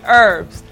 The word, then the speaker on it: herbs: and outs of herbs I mean herbs the H is silent right you